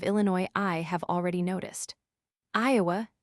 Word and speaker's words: Iowa: The local pronunciation of Illinois I have already noticed Iowa at home is often eyeway.